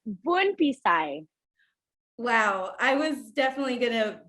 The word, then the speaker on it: Bounphisay: Can you please pronounce it for me? It's you're not the only one. It's Bounphisay.